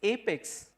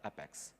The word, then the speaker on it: APEX: finally convey to you its apex and not up X so rest assured I would like you to pronounce it as apex going forward and please let others whose you call it as a pets tell them it's apex please okay I don't have